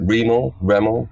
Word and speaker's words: Remo: Remo, whatever. Yeah, Remo.